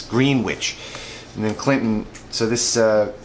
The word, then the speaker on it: Greenwich: is one in PA Greenwich not Greenwich I think I said it wrong last test time it's Greenwich and then Clinton so